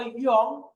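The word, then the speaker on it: 이응: এটা হলো ইয়ং। ইয়ং আমরা বলে আসছি যে যখন এটা মৌলিক স্বরবর্ণের সাথে বসে তখন সেটা স্বরবর্ণকে পূর্ণাঙ্গ স্বরবর্ণ হিসেবে ব্যবহৃত হতে সাহায্য করে, তখন তার নিজের কোনো উচ্চারণ হবে না। আর এটার নিজের উচ্চারণ হবে কখন? যখন এটা নিচে বসবে তখন উচ্চারণ হবে ও, অথবা অনুসারের উচ্চারণ ইয়ং। তারপরে এটা হলো জিউত।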